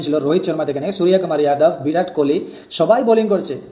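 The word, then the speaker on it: সূর্যকুমার যাদব: আমাদের ইন্ডিয়া টিমে কোনো সুরাইয়া কুমার যাদব নেই। সুরাইয়া কুমার যাদব আমাদের কোনো ইন্ডিয়া টিমের প্লেয়ার নেই। আমাদের ইন্ডিয়া টিমে একজন প্লেয়ার আছেন, যার নাম হলো সুরিয়া কুমার যাদব। সুরাইয়া কুমার নয়।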